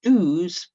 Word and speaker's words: douze: So it's got that z at the end. That's for a dozen. That's how I like to remember it. Douze being very much like a dozen.